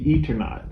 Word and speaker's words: Eternaut: I found out that the way you pronounce it is the Eternaut, because later in the book we found out that the reason why it's called that is because he's traveling through eternity.